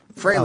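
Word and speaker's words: Frehley: fry freely admits that fry is the proper pronunciation it is fry fry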